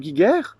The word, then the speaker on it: Giger: C'est le même, le nom se prononce de la même façon.